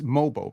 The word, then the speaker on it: Mogbo: There was a play where It's Mobo, by the way.